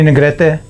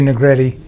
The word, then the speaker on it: Negrete: told your name what your name is Freddy Negrete but as a coatl say Freddy Negrete it rhymes like that how are you I'm 6363